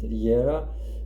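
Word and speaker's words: Jera: Yera would be pronounced they call it Yera and it means harvest, eternal return cycles, peace, prosperity, freedom.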